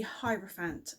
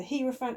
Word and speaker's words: hierophant: today which is the hierophant i think that's how you say it but i'm not 100 sure it's either he referent or hierophant so i've gone with hierophant because it sounds like hierarchy which is one of